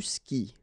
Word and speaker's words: skis: And then tu skis. Well, exactly the same thing, even if you get this s, well, actually the is mute. You don't pronounce it, so you don't pronounce the final s either.